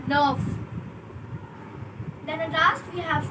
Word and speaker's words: neuf: That is nerve. It's not neuf or neef. It's nerve.